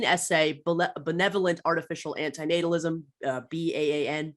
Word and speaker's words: BAN: benevolent artificial anti-natalism uh b-a-n ban I think is how you pronounce the acronym uh which I have